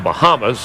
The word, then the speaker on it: Bahama: He's from the Bahamas, actually pronounced Bahama, North Carolina.